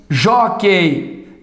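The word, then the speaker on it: jóquei: uns forceps PS e Joquei de tongo esse U aqui não é pronunciado certo então Joquei de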